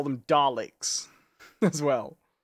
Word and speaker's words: Dalek: Because I hear more of an IK sound to it too, you know, Dalek, rather than, yeah. Ek. Yeah, I don't hear the X sound that much. Ek. Dalek. Yeah. In fact, I don't like it pronounced like that. I like a Dalek.